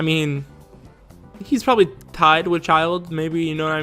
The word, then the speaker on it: Childe: your pants back up child is his actual name not chilled i thought it was chilled but it's child now surprisingly i actually watched